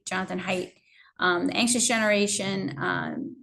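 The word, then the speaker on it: Haidt: name spelled ha AI um DT but it's pronounced height Jonathan height um the anxious Generation Um there were a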